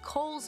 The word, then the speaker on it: Cowles: SDSU historian Seth Maio says just about everyone mispronounces the mountain. The correct way to say it is Cowles Mountain.